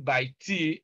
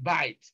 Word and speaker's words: bite: Look at the word bite. T is silent, so we are not saying by T, we are saying bite.